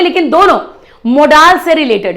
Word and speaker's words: modals: अंग्रेजी में मॉडल नहीं होता, अंग्रेजी में मोडाल्स होते हैं. जो सही प्रोनाउंसिएशन है मोडाल्स.